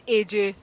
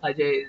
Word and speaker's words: Ajay: For them, JAY is pronounced J. So A and J is AJ. Yeah. It's a phonetic thing. They will not understand what Ajay is.